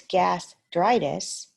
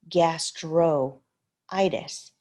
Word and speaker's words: gastritis: vowel so for example if it's gastritis you would not say gastro itis you would take this vowel off because the next the suffix already starts with the vowel we don't usually like